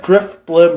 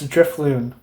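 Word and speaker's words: Drifloon: I said Driftbloom earlier, both times, when it's Driftloon.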